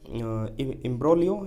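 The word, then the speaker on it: imbroglio: Next word देखते हैं a very complex situation, इम्ब्रोलियो। इम्ब्रोलियो का मतलब होता है उलझन। जी साइलेंट रहता है तो इम्ब्रोलियो मतलब कि उलझन।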